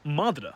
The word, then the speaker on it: madra: The original form is like this, and it's pronounced madra.